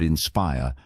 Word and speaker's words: inspire: For example, in the word inspire, the stress is on the second syllable.